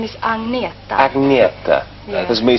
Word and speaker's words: Agnetha: Is it how do you you're pronouncing Agneta? Is that right? My name is Agneta. Agneta. There's me saying Agnatha and things like that.